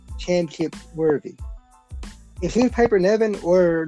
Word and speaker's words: Piper Niven: How do you pronounce it, Nevin? Piper Nevin, yes.